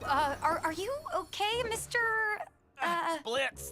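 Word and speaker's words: Blitzø: Blitz, the O is silent.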